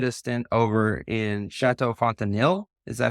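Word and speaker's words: Fontenil: internship you did a stint over in chatau fontanil is that how you pronounce it yes and when I was looking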